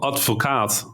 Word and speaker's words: Advocaat: So there's a Dutch-only liquor called Advocaat, which it's almost spelled the same as avocado, except for there's a D in front of the first V.